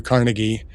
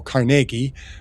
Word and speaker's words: Carnegie: Andrew Carnegie, who, if those of us from Pittsburgh would call Carnegie, but it took me years to realize that I thought people were pronouncing the name wrong. Oh, these uppity people in New York calling him Carnegie. It's Carnegie, but no, it's actually Carnegie.